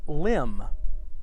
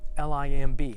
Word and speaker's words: limb: or another word is limb l-i-m-b the B is silent in limb now here's the thing